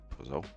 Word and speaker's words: Pozo: What up, Pozo? I see you. Thank you for coming through. Is it Pozo? Pozo. It's like, yeah, it's Pozo. It's only 2 vowels, man. 2 syllables, bro. Get it right.